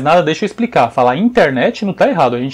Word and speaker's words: internet: de internet por exemplo a pronúncia original em inglês é internet a gente fala internet né o finalzinho mais forte em português muitas vezes a sílaba tônica sílaba que é mais forte para lá no finalzinho da palavra inglesa maioria tá tudo antes né tá no meio ou no começo aqui que a gente